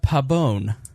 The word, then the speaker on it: Pabon: pretend there's an E at the end. Pabon.